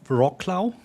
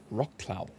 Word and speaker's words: Wrocław: I think in in Polish it's pronounced something like Wrocław. Wrocław Yeah.